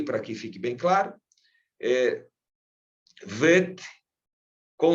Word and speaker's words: Vet: Lembra quando eu falei, por exemplo, do vet, se tem o dagesh no meio, né? Esse ponto interior, e agora você sabe o nome desse pontinho, né? Que eu tinha mencionado para vocês, chama dagesh. Com o dagesh, ele soa como B. Então, sem o dagesh, soa como V, tá?